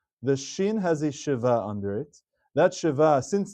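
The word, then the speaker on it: שווא: So this word actually should be pronounced as sheva because the sheva under the shin of the first letter is a Sheva Na, meaning it's pronounced.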